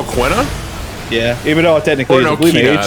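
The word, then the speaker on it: Quina: one character for final fantas C9 who o quna yeah even though technically I think it's pronounced Kina actually yeah it's pronounced Kina quinoa yeah you know I I I love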